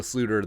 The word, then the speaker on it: Sloter: Cal Jerome Ezekiel Sluter, the Dutch pronunciation, made his USFL debut on Sunday.